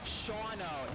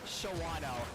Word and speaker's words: Shawano: my bad excuse us it's pronounced shawno not Shawano our bat on that